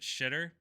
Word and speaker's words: Xitter: I think you just take Twitter, take the T off, put an X at the beginning, Xitter, and just pronounce it shitter.